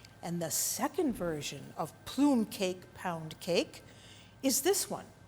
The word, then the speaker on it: plum cake: Today we made plume cake. That's how the Italians pronounce it.